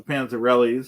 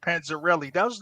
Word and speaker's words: Panzerotti: We're not worried about the Panzerottis. Okay, we're not worried about the Leven-Smiths. Panzerotti. Okay, you pronounced Yeah. that correctly because in your little thing that you were doing earlier, you said Panzerelli.